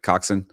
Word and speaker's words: Coxen: Did I say it right, Coxen?